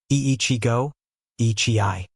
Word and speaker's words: Ichigo Ichie: Ichigo Ichie pronounced ee-chee-go ee-chee-eye.